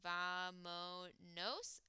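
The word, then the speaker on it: vámonos: It's actually because the positive command for nosotros is vamos, but since we take off the S, it becomes vamonos with an accent on the second to last vowel.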